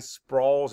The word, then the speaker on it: sprawls: Map the sounds. Sprawls. Spell it. S-P-R-A-W-L-S. Sprawls. And let's write it. S-P-R-A-W-L-S. What makes the all sound? A-W, that's right.